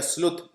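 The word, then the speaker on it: sleuth: इसे स्लत या स्लुथ pronounce किया जाता है।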